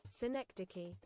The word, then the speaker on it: Synecdoche: Synecdoche pronunciation. Oh. Synecdoche. Oh my god. Synecdoche. That's the British pronunciation.